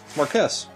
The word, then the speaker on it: Marquess: Yeah, Marquess. Oh, it is Marquess. It is exactly as it's spelled up there.